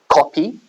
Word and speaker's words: kopi: So there's a very interesting type of coffee you can buy in Singapore called kopi. It's spelled with a K, K-O-P-I.